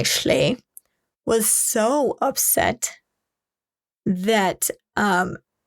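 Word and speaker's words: Schley: the investigators named art schay I think is how you say it s c h l e y schay was so upset that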